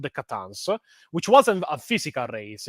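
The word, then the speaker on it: C'tan: they revealed to be a race called the Catans, which could be actually pronounced as Satans, which all the whole thing, Christian lore about Satan and such.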